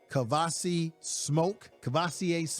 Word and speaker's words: Kavosiey Smoke: Number second on that depth chart would be Kavosiey Smoke, to say it correctly.